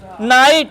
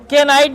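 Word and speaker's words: knight: नाइट है। के नाइट नहीं होगा।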